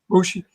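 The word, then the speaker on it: Moche: You pointed out, am I pronouncing it right? The Mochi culture, the Mochi. Yeah, culture? the Mochi, yes. Mochi.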